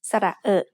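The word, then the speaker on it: สระเออะ: ะ เ อ อ They make the vowel sound which is a little bit like the ER in her, only said with a more relaxed throat.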